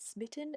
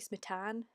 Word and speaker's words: Smitan: I keep pronouncing it Smitten as in like kitten, and it should be Smitan, so I'd have to try and keep that in mind.